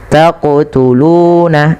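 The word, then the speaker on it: تقتلون: Taqtuluna. Seperti itu. Kemudian panjangkan lu 2 harakat karena ia mad tabi'i.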